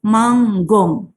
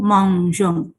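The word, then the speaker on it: mangeons: Kalau nu dengan ONS bunyinya akan nu manggong. Padahal kan manger kan? Ya kan? Sehingga dipertahankanlah e-nya sehingga menjadi nu mangjong. Kalau ini kita hapus bacanya nu manggung.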